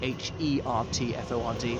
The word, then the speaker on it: Hertford: I know it's spelled Hertford, H-E-R-T-F-O-R-D, but it's pronounced Hertford.